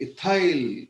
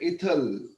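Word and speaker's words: ethyl: हम लोग बोलते हैं मिथाइल, वो बोलते हैं मिथल। हम बोलते हैं इथाइल, वो बोलते हैं इथल।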